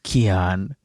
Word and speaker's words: Kyan: Some pronounce it Kyan, some pronounce it Kyan. In high school, the sex ed teacher called me Tyrene, but it's actually Kyan.